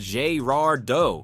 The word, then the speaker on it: Girardeau: Founded in 1733 as a French trading post by Jean-Baptiste de Girardot, Cape Girardeau, pronounced Girardot for those keeping score, has been connecting cultures and commerce for nearly 3 centuries.